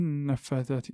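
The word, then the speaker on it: النفّاثات: Donc je vais du ra au nun. Ici nous avons un lem, mais on ne le prononce pas. Pourquoi? Parce que c'est une lettre solaire. Le nun est une lettre solaire. On n'a pas besoin de le connaître. Il n'y a rien au-dessus du lem. Donc, quand on voit rien, on ne le prononce pas. Donc, c'est une lem solaire.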